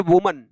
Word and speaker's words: woman: An elderly unmarried वुमन, WOMAN हो तो इसकी जो उच्चारण है वो वुमन होता है, WOMEN हो तो इसको विमेन बोला जाता है बेटे।